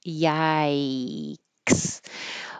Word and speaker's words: yikes: I represented it with AI, yai, because when you finish, your tongue is going back up into the high Y, I position. Yikes. But if it helps to think of it as another word that's spelled similarly, that's more common, bikes is a good one. Bikes, but with a Y.